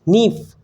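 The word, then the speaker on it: knife: You pronounce only four sound. NIFE, NIF, not knif. You pronounce knif, not. You pronounce is NIF.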